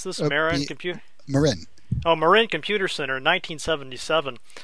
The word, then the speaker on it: Marin: So let's talk about this Marin computer. Is that the right? Is that how you pronounce this? Marin.